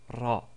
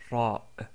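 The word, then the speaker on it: راء: Nous avons vu la lettre Ra qui, comme nous l'avons dit, est comme si un R roulé, comme c'est prononcé en italien ou en espagnol. Donc c'est Ra, Ra.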